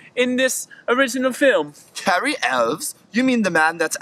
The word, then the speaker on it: Elwes: Cary Elwes? You mean the man that's actually in the real Robin Hood Men in Tights? Yes, however, they pronounced his last name incorrectly and they said Cary Hughes.